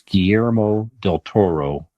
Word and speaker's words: Guillermo del Toro: best Motion Picture animated and I said the name wrong prior so I apologize so it's Guillermo del Toro but it's also Guillermo ditturo's captain of curiosity